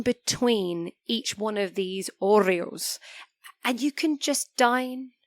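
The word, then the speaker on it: hórreos: about historic they have what is called Oreos now this is spelled with a h so h-o-r-r-e-o-s now the Orioles of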